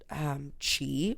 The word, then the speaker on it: qi: And so, first of all, there's a long history of Chinese knowledge referencing what's called qi, which is spelled Qi.